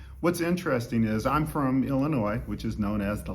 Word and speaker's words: Illinois: mispronounce it they'd say illinois like there's e on the end and we'd say there's no noise right illinois it's a french word they're the fighting illini